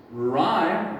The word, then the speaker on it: rhyme: Rhyme, remember the H is silent.